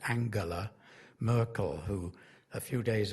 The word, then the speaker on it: Angela: to to start by referring to Angela I she pronounces it Angela Merkel who a few